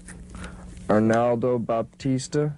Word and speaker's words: Arnaldo Baptista: Arnaldo Baptista is that how you pronounce his name that's it Nana was